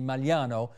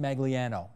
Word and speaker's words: Magliano: program to know that I do know how to properly pronounce your last name which should be malano but I get that you want to pronounced magiano and I just want everybody know my father and his father pronounced it so I guess that's the way we do it that's on you my